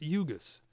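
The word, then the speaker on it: Ugoos: 1.4 don 11 how do I know it's pronounced UGA's because I asked them jurgis means smart idea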